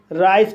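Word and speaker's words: rice: जाएगा wide means चौड़ा आर को रा पढ़ा जाएगा आई को आई पढ़ा जाएगा सी को सा पढ़ा जाएगा ई साइलेंट रहेगा इस तरह से इसे राइस पढ़ा जाएगा और राइस मींस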